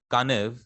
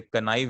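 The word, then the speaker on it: connive: आगे देखिए, his parents often कानिव, या फिर आप इसे कनाइव भी पढ़ सकते हैं, प्रोनाउंसिएशन वेरी करता है, कनाइव भी, वैसे मैं इसे कनाइव पढ़ता हूँ।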